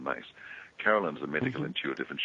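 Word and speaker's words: Myss: who know Carolyn Mace, some people call it Mice, M-Y-S-S, but it's actually pronounced as Carolyn Mace.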